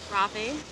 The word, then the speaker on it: Rafi: Rafi. What is it? Rafi. Rafi? Mm-hmm. Oh, like the children's musician. Yes. Okay. Not spelled the same way, but yes.